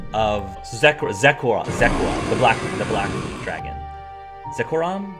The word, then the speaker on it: Zekrom: Zekoram is how I pronounce it? I just say Zekrom, but I don't know for sure.